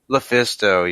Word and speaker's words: LuFisto: Lufisto, yes.